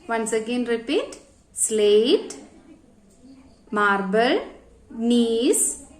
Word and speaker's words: gneiss: Slate, marble, gneiss, quartzite. Once again repeat. Slate, marble, gneiss, G-N-E-I-S-S, gneiss. Okay, pronunciation is gneiss.